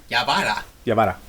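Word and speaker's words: Yawara: Yabara. Okay, that's it. Yeah. That's how you pronounce it.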